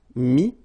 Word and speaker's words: mis: Okay, then E-T-T-R-E will give you this E-S, but then you don't pronounce the S, so you get I. Mettre, mi, and then E-N-D-R-E, I-S, but then same thing here, the sound I.